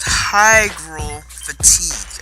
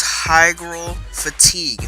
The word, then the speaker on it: hygral fatigue: It's called hygral fatigue.